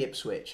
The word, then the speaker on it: Ipswich: Say Ipswich again. Am I saying it wrong again? You keep saying Ipswich. Ipswich. You say Ipswich with a G.